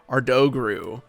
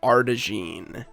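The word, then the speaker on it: Ardougne: bad pretty sure it's our known pretty sure I think it's supposed to be French but um as a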